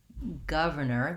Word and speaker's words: governor: before the stressed syllable so i want my first syllable to sound like gov and i would say the british might write that as guv an abbreviation for governor they might say gov i don't think we use that very much here in the us but thinking about that might help you get the sound correct for that letter